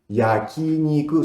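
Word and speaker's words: 焼肉: Yakiniku. Yakiniku son 4 sílabas. Yaki es asado, niku es carne. Carne asada es yakiniku. Yakiniku. Y se pronuncia como suena.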